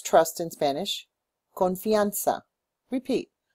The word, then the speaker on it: confianza: pronounce trust in Spanish confa repeat confa the Z is like an S confa we in good